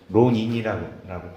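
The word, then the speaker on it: 浪人: 많이 빠졌는데 그 어느 그 자기 주군인 우에스기라는 론인이라고 발음을 합니다 그래서 그 자기 주근을 죽인 원수를 갖다가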